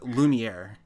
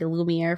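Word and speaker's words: Lumière: you spell that uh it's l e uh hold on l u l u m i e r all right yeah that's what I thought so that's like French really Harris you're a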